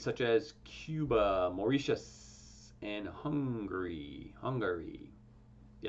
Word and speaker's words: Hungary: as cuba mauritius and hungary hungary yeah it's not hungry it's hungary hungary pickleball two syllables hungary three syllables not surprisingly the disease